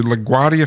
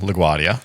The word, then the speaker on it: LaGuardia: word they were they were to return to LaGuardia field in New York LaGuardia is the airport in New York in case you didn't know yeah LaGuardia LaGuardia what did I say langu Guardia no I